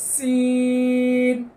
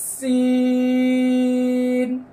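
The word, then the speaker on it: سين: এই হরফটির নাম হলো সিন এই যে দেখেন এই জিহ্বার আগা এই যে সামনের নিচে যা পড়েছি না একই জায়গা থেকে সিন সিন শেষে জিহ্বার আগা তার বরাবর উপরের তালুর সঙ্গে লেগে যাবে কেননা শেষে নুন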